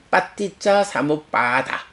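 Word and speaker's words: paṭiccasamuppāda: 해서 연기된 법 이렇게 되죠 그래서 오늘 우리가 발음을 익혔지만 빠띠자 사무빠다 연기 파티짜 사무빠나 단마 연기된 법 연기 메커니즘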